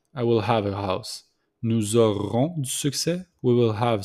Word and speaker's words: nous aurons: So we make the liaison between nous and auront with the S. So the S became mostly the Z. So nous aurons.